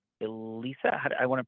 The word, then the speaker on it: Alisa: And I want to make it, and it's Elisa? I want to pronounce it correctly. Alisa, A-L-I-S-A. Yes, I'm from Ukraine. Yeah, Elisa.